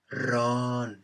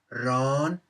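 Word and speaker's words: ร้อน: it the syllable becomes instead of ron it becomes ron ron a high tone syllable and therefore gets the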